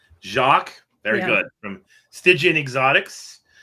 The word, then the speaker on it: Jaques: Jacques. Jacques?